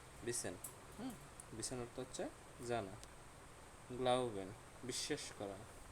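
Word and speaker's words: glauben: গ্লাউবেন, বিশ্বাস করা, ভেঙে উচ্চারণ করলে গ্লাউ বেন, গ্লাউবেন, বিশ্বাস করা, ওকে।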